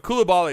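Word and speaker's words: Coulibaly: all am I defense I heard it's I I heard people pronounce it differently LOL all right because I was trying to get the pronunciation down but kulabali is right right that's how you say it lots of Frenchmen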